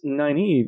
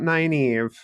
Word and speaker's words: Nynaeve: All right, Kat, tell us about Nynaeve. Or, I'm sorry, Nynaeve.